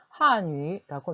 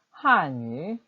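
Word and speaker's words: 汉语: 중국어는 중국 사람들은 중국어를 그대로 발음하는 중국어위라고 거의 하지 않고요. 한유라고 말합니다. 같이 한번 해볼까요? 한유.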